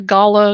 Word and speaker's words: gala: Or is it gala or is it gayla? I don't know. How do you pronounce that? gala.